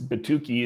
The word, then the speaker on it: Batuki: And and you I know right there on the screen we can see and I want to make sure I pronounce this right is is Batuki.